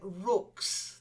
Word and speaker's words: rooks: it over time then Rooks they're a bird a big black bird like a crow a raven uh not rocks Brooks that's it like books books then climate it's a